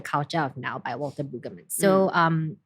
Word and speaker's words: Brueggemann: Sometimes I say it wrongly. Walter Boogeyman. No. Brueggemann.